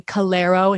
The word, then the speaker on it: Calleiro: and then c-a-l-l-e-i-r-o it's spelled like calero if you spell it like that and then my instagram is at conscious gallero which is my last